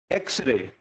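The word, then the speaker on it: Echo: उसके बाद आता है सबसे ज्यादा इंपॉर्टेंट, एको, इसको आप एको पढ़ो, इको नहीं, ठीक है।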